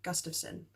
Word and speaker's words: Gustafson: Gustafson family again I've heard that name pronounced differently so times but I'm gonna say Gustavsson this family consisted of Andrew